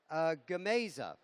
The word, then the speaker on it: Gamesa: Is it Gamesas? You help me with the pronunciation of that.